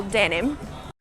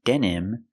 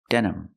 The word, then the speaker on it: denim: other materials that we call that can call Denim I don't pronounce the word denim denim it's pronounced denim denim I use the schah sound for the second